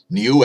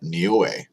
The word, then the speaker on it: Niue: So 5.3 at Niue is next on the list.